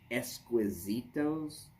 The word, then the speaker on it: Exquisitos: The Fuente Exquisitos. It looks like exquisite with an O on the end. An OS actually.